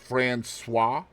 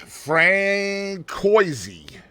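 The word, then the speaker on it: Françoise: passed away from cancer did you know that's pronounced fruis I was waiting for you to say it yeah cuz K was Katie was going to be like Frank Koy I was going to say Fran no that's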